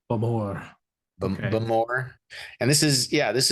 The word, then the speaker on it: Bowmore: it's not just any whiskey we got the bow more uh correction Dustin it is the bamore because all this is Scottish and they can't